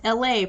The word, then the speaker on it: Elay: I'm wishing her the best, and my name is Elay, pronounced like LA, like the city.